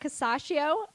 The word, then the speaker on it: Casaccio: and I am here with the wonderful Eric casacio filmmaker of free hey you pronounced my last name right good job thank